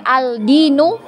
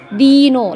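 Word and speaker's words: الدين: dengan huruf Dal ya Jadi kita bacanya bukan Aldino ya bukan tapi Dino langsung masuk ke huruf Dal ya langsung melebur di huruf Dal Jadi huruf lamnya tadi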